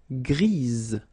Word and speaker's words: grise: for the feminine form, grise. Remember? Grise. Alright? So when you add this E, basically it gives you the pronunciation or the possibility to pronounce the previous letter here. It's Z.